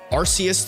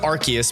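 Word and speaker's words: Arceus: the OD bro says they changed the official pronunciation from arus to archus because r is how the British say ass the OD bro is that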